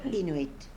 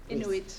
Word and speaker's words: Inuit: So Inuit. Inuit.